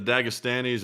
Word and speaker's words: Dagestanis: The Dagestanis?